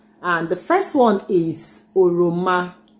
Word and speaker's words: ọrịọmọ: have some fruits that we're going to be pronouncing with Obi, and the first one is ọrịọmọ. ọrịọmọ. That's orange. Yeah, that's ọrịọmọ.